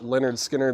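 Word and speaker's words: Lynyrd Skynyrd: skard info the Skinner that's pronounced Leonard Skinner that's the qrp 2 LP from the original Master tapes heavyweight vinyl um yeah new and sealed $ 64.99 on Leonard skinnard then we had Dolly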